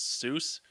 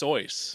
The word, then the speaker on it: Seuss: no, I mean like the way the way the people that pronounce Seuss, it's wrong. How's it supposed to be pronounced? Soyce.